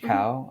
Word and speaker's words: Kao: you can you can Google my name cow my last name is spelled k AO so just Google cow and you'll find whatever it is you're looking